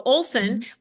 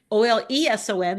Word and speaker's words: Oleson: So Oleson, Oleson, the E is silent.